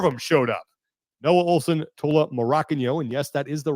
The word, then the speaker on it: Tola Morakinyo: Noah Olson, Tola Morakinyo, and yes, that is the right way to say his name, and he confirms it here.